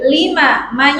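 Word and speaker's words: لِمَ: Qumi hasanah ini diperhatikan lima tidak panjang. Kebanyakan tadi bacanya banyak yang salah dipanjangkan.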